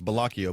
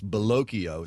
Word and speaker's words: Bellocchio: So there's a guy by the name of David, it looks like it's Bellocchio, but it's actually pronounced to rhyme with Tokyo, I was told. So it's Bellocchio.